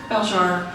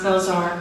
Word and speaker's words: Belzhar: at the end so this book belar which some people pronounce belar which is fine but I'll answer to